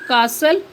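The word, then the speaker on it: castle: next है silent T टी इज not pronounced T pronounce नहीं किया जाता या टी आवाज नहीं देता in these common words in आम अल्फाज में फॉर कासल फसन listen on Sical विसल next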